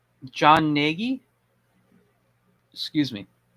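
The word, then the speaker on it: Gnagy: John Ngi, excuse me. That's with a silent G. Uh, John Negi. Negi, it's G N A G Y, I believe.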